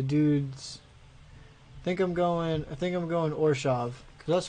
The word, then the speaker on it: Orzhov: How do you pronounce this? Hold on. Mechanic Spotlight, the Orzhov Syndicate. Orshov. Orshov? Ravnica Allegiance Mechanic Spotlight, the Orzhov Syndicate. Orshov. Okay, that's how you pronounce it.